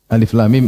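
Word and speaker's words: الم: huruf bukan sebagai kata jadi bacanya bukan alam tapi Alif la lam mim misalnya kalau Zaid kita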